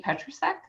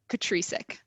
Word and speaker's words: Petricek: Petricek. Ooh, that's one option. So my husband goes by that one. I go by Petricek.